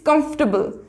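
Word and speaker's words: comfortable: इट्स कंफर्टेबल, नॉट कंफर्टेबल, कंफर्टेबल, इट्स कंफर्टेबल। इसमें भी हमारा जो है वो ओ साइलेंट हो जाएगा, इसमें हमारे ओ और आर साइलेंट हो जाएंगे तो हो जाएगा कंफर्टेबल।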